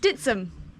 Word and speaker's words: Dittisham: a trail run around dittisham is that how you pronounce it dum to the locals ditum I love that okay